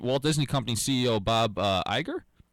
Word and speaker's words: Iger: Yeah, well, if it's pushing for a sequel right now, I mean, Walt Disney Company CEO Bob Iger? Is that how you say it? I think it's eager.